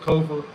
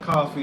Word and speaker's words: Kofa: I have been your humble host, Kofa. Chelsea, I'm glad you're good, sis. Kofa, not coffee, not, not Kofi, or any variation thereof. Kofa rhymes with sofa.